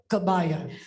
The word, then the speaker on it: kebaya: tried to consult some Indonesians here, and the pronunciation is kabaya.